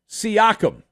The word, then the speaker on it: Siakam: there is noise that Pascal siacom I had to make sure I said that properly because of our friend well this guy in Brooklyn that calls he pronounces his name differently and I don't want to pronounce it like that because well he's